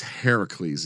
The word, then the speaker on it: Heracles: It's Heracles in Greek.